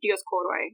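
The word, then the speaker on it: Dioskouroi: Actually, that name, the Dioscuri, that's the Latinization of it, but it's Dioscuri, Dioscoroi, if you're pronouncing it ancient instead of modern Greek.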